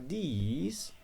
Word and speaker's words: these: Nah, kalau ini these agak panjang ya, ini this, ini these. Oke.